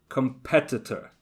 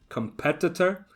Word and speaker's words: competitor: also a tricky one competitor competitor and it's the exact same with the adjective competitive competitive so the stress is on the second syllable competitor and competitive distribution distribution however watch